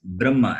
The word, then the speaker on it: Brahma: That is, the Hakara also will take the sound of Makara. It is Brahma, as though it is B-R-A-M-M-A. That is how it is read.